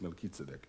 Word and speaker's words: Melchizedek: kitsubik and he said it this way is Melchizedek all right all right the Lord is at